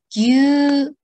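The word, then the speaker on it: ぎゅうにゅう: Jadi, dibacanya gyu-nyu atau gyu-nyu, susu.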